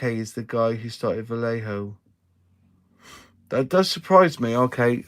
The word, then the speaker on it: Vallejo: comes from South America, and he says it with a B, Vallejo. Just putting it out there, but we English, we muller words every time, so we just say Vallejo.